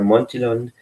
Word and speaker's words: Montillon: Also der Familienname spricht sich ganz deutsch aus und wir sagen immer Montillon, so wie Champignon und nicht Champignon.